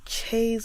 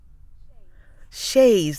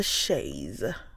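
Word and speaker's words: chaise: Is it chase or she? I have pronounced it both ways and I have never correctly. Shes. Right. Shayes. That's British. Shayes. Oh. I have a Shayes. American is also Shayes. Shayes.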